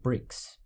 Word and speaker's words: brix: known as canes and the sugar is called bricks brix is spelt as b-r-i-x to make the beverage potable